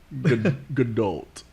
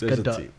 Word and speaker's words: Gadot: Gadot. It's Gadot. There is a T. But it's a big O.